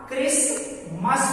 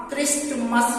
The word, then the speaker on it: Christmas: जैसे क्राइस्ट है CHRISTMAS, तो यहाँ क्रिसमस पढ़ेंगे, यहाँ क्रिस्टमस नहीं पढ़ेंगे, ठीक है उच्चारण नहीं होगा, काहे एसटी के साथ कॉम्बिनेशन बना रहा है।